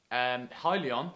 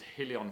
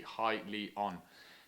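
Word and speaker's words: Hyliion: quite like this one now highly on how it's pronounced you can see here on the website i did have to double check that because i thought it was hilly on for ages but it's actually highly on now they went public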